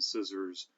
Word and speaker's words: scissors: We're warned to observe these silent letters and never say the C in scissors, and never say the